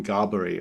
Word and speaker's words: Gaboury: we've got a special guest this week, Gaboury. I was just saying, like, how do you pronounce it?